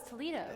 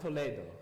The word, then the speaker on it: Toledo: called Toledo uh Toledo I thought it was Toledo no it's pronounced Toledo she says to lead up and you say